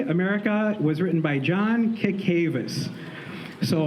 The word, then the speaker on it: Cacavas: was written by John cacavas so I used to pronounce it wrong but Brian said it's cacavas okay so uh a